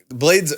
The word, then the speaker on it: 3lade: Yeah. Blades. Blade. Blade's how you say it.